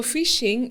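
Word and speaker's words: phishing: So fishing it's the spelling is P H I S H I but fishing from the pronunciation is like fishing from the ocean or a lake.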